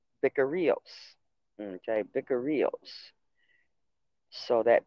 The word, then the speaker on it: vicarius: In Greek text, the Latin title is spelled, however you spell that, but pronounced Vicarius. Vicarios.